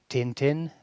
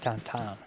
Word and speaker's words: Tintin: I was in Belgium once, and when I pronounced it Tintin, they got really offended. You're actually supposed to pronounce it Tintin.